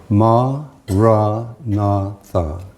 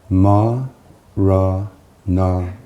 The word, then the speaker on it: Maranatha: And if you choose this word, say it has four syllables. Ma, ra ntha. Ma, ra na.